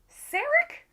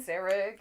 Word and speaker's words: Sarek: Sarek? Is this how we say his name? S-E-R-E-K. Yeah, Sarek.